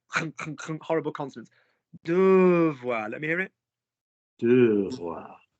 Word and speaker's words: devoir: Devoir. There's that nervousness around the throat that you don't like.